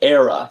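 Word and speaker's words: Éire: It's pronounced era.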